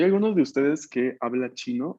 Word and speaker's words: ち: Su, chi, shi.